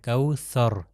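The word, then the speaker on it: الكوثر: یہاں پر جو ہے یہ سر وہی دال کی طرح ادا ہوتا ہے اوپر اور نیچے والے دانتوں کے درمیان میں، کوثر۔ اگلی آیت آپ دیکھیے،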